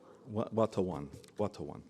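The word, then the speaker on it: Watonwan: Watawan, thank you.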